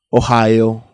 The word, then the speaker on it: Ohio: nacimiento en cincinnati o en ohio que se pronuncia ohio o lo que es lo mismo un monarca